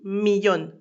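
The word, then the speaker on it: millón: s'écrit M I L et million qui se dit millionne. M I de L O avec un accent écrit et N.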